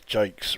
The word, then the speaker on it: Jakes: You're one of the few that do pronounce Jake's right. Okay. It helps. I went to school with somebody called Simon Jakes. So, yeah, I just referred to that.